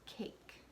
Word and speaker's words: cake: try it again hey do you see how the E and the a work together to make the a say a and then the E is silent it's not egg yeah it's cake all right race these